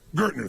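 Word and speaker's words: Gerstner: know how to pronounce his name, it was Gestetner, the gentleman who came in, who was like the major turnaround guy. What's his name? Gertner, thank you.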